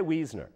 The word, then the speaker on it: Weisner: street from her Gail Weisner Weisner we'll say Weisner no we'll say weasner because that's how the Germans would pronounce it it's a German name weasner Gail weasner is